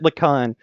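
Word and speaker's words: Lhikan: You pronounce it Lacan. You'll figure out, if you look at any of the names, you'll figure out Bionicle and its secret H placement.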